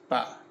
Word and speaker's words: bà: No, wait, I'm sorry, three is ba, and grandma is ba. You got that, guys? Yeah. Pretty sure I'm saying those at least somewhat close. Yeah, you're close. To correctly. But literally, they are spelled the same. There is just an accent over the A in grandma. Mm-hmm. But they sound almost exactly like.